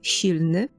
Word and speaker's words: silny: And it is pronounced Silny with this soft sh at the beginning.